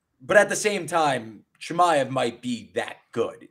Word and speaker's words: Chimaev: Chimaev is definitely the way he pronounces his last name.